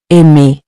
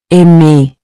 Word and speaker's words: aimer: So remember, even though you see the R in writing, at the end of ER verbs, you don't pronounce it separately.